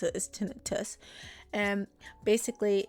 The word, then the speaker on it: tinnitus: oh okay okay I just learned that it's pronounced tinnitus and that's a much less scary no I can't speak it's a must less scary name it's called tinnitus I pronounce it tinnitus but that's not how you pronounce it is